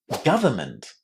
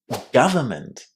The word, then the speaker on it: government: And speaking of short A, would you believe me that this word also has the short A sound in the first syllable? Listen. Government. Government. The first syllable has exactly the same sound as country, but, or just. Government.